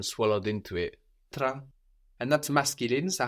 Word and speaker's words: train: The train, in French, train, is the same word, T-R-A-I-N. So how might that sound in French?